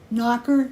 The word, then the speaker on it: nacre: And then they're dipped in, I don't know how you say it, nacre.